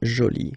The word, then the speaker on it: jolie: you can see that you put this uh but then you don't pronounce it okay so it's Jolie so basically the two